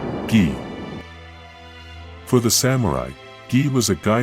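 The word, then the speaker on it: 義: Pronounced, gi.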